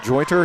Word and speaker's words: Jointer: That he has a T in it.